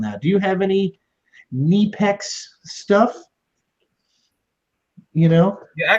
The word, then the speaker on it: Knipex: G yeah it's not it's not cipex it's not Kip X it's neex okay make a video on